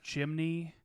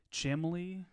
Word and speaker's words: chimney: test because they pronounced chimney chimley chimley she thought there was an L in there chimley chimley like the